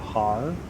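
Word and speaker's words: Haar: I believe it is pronounced the Har.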